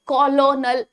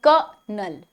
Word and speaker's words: colonel: ये कॉलोनल नहीं है, कलनल नहीं है, ये है क्या, ये है कनल, कनल, कनल, कनल, कनल।